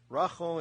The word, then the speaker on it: Rochelle: Rochelle is the Ashkenazi pronunciation of Rachel.